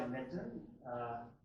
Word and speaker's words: Nitin: I go by Nitin. This first name rhymes with kitten or mitten.